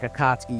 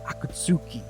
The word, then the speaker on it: Akatsuki: You know, if you look at a word like akatsky, you'd say akatsuki, you know, but it's not. It's well, it is, but it isn't.